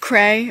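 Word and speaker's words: Creagh: say it once more spell it out CR EA gh great just Kray alright don't cry it's Jake right here's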